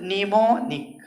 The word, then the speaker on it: mnemonic: आज से इसको जब भी पढ़ेगा तो निमोनिक, निमोनिक, निमोनिक, निमोनिक, स्मृति जनक।